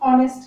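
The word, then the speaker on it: honest: ऑनेस्ट में भी एन का यूज करें क्योंकि यहाँ जो एच होता है वो साइलेंट होता है, इसको हम ऑनेस्ट कहेंगे.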